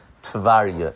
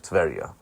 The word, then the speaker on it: Tverya: Now, the city of Tverya, by the way, before I continue, I do want to mention that the Rebbe would pronounce it always Tverya instead of Tverya.